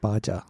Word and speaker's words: Baja: It's pronounced Baja.